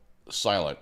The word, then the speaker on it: SLNT: It's called silent s l n t and I actually have